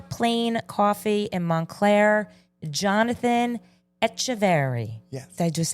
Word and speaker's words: Echeverry: I am sitting with the owner of Paper Plane Coffee in Montclair, Jonathan Echeverry.